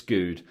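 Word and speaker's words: Goode: He says, there's a BT Sport clip on YouTube of Alex Good, and the pronunciation of his name comes up at the start. It's good, not good, like Andy Good.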